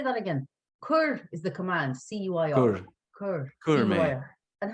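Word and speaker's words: cuir: the ipod bit can you say that again kur is the command c-u-i-r and how do you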